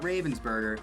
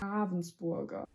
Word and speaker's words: Ravensburger: It's not Ravensburger, it's Ravensburger. Ravensburger? Ravensburger's close enough.